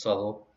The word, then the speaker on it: Southwell: is the facade of sutherl minster it's spelled southwell but it's pronounced subtle uh from uh we'll